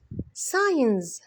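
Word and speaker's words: signs: نورث نورث نورث نورث علامات ساينز سينز الجي في النص ما بنطقها سينز مخطوطه او وثيقه يلا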